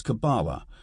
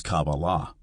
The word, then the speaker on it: Kabbalah: By the way, another example of varied pronunciation is the word Kabbalah. The Ashkenazic pronunciation is Kabbalah, whereas the modern Israeli pronunciation is Kabbalah.